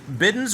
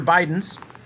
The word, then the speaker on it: Bidens: This is Bidens or Bidens, depends on how you want to pronounce it.